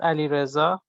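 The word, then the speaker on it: Alireza: Alirza? Yes, Ali Reza, or Ali for short.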